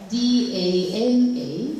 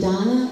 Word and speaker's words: Dana: My name is spelled D-A-N-A, so it can be Dana or Dana, depending on where you are from.